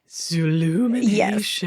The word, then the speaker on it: Zoolumination: show I'm gonna pick Zoo illumination zoolumination you have to say it like that oh zoolumination yeah that's